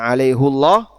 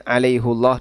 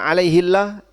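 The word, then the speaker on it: عَلَيْهُ اللَّهَ: Sehingga penjelasan kenapa ini dibaca alaihullah ini kaitannya dengan pendekatan ilmu qiraah, pendekatan nahwu, dan pendekatan bahasa. Dan tadi sudah kita sebutkan kenapa hafaz membacanya dengan alaihullah dan itu memang tidak sesuai dengan qiraah jumhur. Tapi semuanya boleh. Dan kalau Bapak baca alaihillah tidak sampai masuk dalam kategori qiraah syadzah atau qiraah yang nyeleneh yang harus ditinggalkan.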